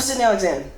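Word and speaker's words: Cydnee Alyxzan: I'm Sydney Alexander. I think I said that, but usually I forget. And it's spelled CYDNEE space ALYXZAN.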